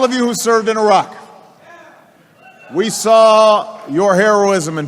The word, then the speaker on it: Iraq: Don't say Iraq or Iraq because they're wrong. We need to use the it sound and ah sound, so it would be like this: Iraq, Iraq.